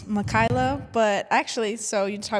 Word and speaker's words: Makyla: It's Mikaela, but actually so you talk about like people not pronouncing your name right.